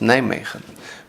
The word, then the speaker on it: Nijmegen: Roman town of Noviomagus, locally pronounced Nijmegen, making it sound like a commercial for Fisherman's Friend in the Netherlands.